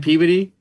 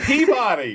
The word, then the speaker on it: Peabody: movie, Peabody. Well, there's a town in Massachusetts called Peabody. Oh. Is it spelled the same? Yeah, it's spelled the same, but everyone calls it Peabody.